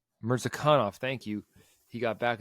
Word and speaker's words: Mirzakhanov: Mirzakhanov.